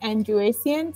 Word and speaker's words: Andrew-Essien: So it's pronounced, and my last name is Andrew-Essien.